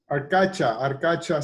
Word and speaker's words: Arcacha: Arcacha Smith.